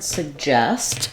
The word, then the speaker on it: suggest: suggest and suggestion so in the word suggest our stress is on the second syllable justest and the letter